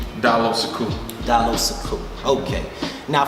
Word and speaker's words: Diallo Sekou: people for the pronunciation of your name he pronounce you your government name down low so cool down so cool okay now come on understand